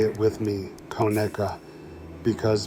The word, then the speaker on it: Conecuh: Conecuh sausage. And right away, say it with me, Conecuh, because mispronouncing it is the fastest way to out yourself as not being from Alabama.